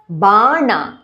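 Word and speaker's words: बाण: Katyayani Mahamaye Khadga kha stress Bana N capital tongue tip passage upper palate Dhanurdhare both the dha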